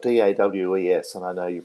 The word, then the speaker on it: Dawes: And there's a band out of California, and forgive my pronunciation, it's spelled D-A-W-E-S, and I know you pronounce it a little differently.